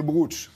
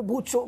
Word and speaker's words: Brocciu: Alors il y a des qu'on appelle le brooch. C'est comme ça qu'on prononce. Alors on peut dire le brooch ou le bruccio, mais c'est compliqué parce qu'il y a un